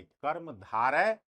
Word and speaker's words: कर्मधारय: कर्मधारय समास, इसका उच्चारण कैसे करेंगे, कर्मधारय समास।